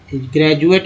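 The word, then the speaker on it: graduate: ज कब बोलते हैं, जब डी जैसे एक वर्ड लेते हैं ग्रेजुएट, ग्रेजुएट में डी का उच्चारण जो है ज के रूप में हुआ, है ना।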